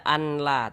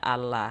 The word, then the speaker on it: Allah: Kita baca Allah. Jangan dibaca anla, tapi dibaca Allah.